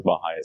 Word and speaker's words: BAJA: there was this competition called Baha bja but pronounced as Baha B on the Baja region of North America